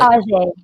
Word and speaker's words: Ajai: It is pronounced Ajay or Ajay, right? Ajay. Ajay. Thank you for correcting me.